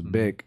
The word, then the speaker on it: Bic: I was pronouncing Bink. I didn't know how to pronounce it. So it's Bic.